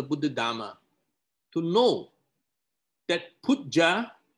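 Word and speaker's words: Puja: It is very important for us as students of the Buddha Dharma to know that Pujja, pronounced as P-O-O-J-A, Pujja is not a direct telephone line telling the Buddha what to do.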